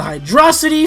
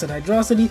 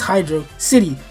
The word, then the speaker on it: Hydro City: we're moving on to Hydrocity from Sonic 3, baby! I know I said Hydrocity, but it is Hydro City. Sure, Hydrocity sounds cooler, but in every other language, especially the Japanese, it's Hydro City.